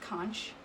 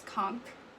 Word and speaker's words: conch: Sorry, but did you guys know that it's not pronounced conch? It's conch. That blew my mind when I learned that.